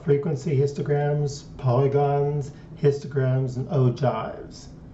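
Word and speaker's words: ogive: histograms polygons histograms and O jives OES that's how it's pronounced all right let's start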